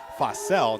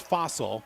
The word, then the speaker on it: Fossell: Number 2 is a 5'3" senior guard in Alexa Fossell, not pronounced Fossil, so we won't call her Bones tonight.